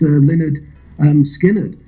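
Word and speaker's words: Lynyrd Skynyrd: first album didn't actually run to August 1973 pronounced Leonard um skinnard but it what happened was that the the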